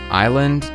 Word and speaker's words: island: Island? Nah, let's put an S in there to fuck with anyone trying to pass their second grade spelling tests.